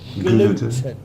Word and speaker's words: gluten: words intolerant to gluten it's a hard G gluten gluten gluten mix separate